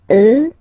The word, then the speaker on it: eux: you get the sound remember, final X not pronounced, and then plural elle, elle. Okay, so let's see them one more time. Moi, toi, lui, elle, nous, vous, eux, elle.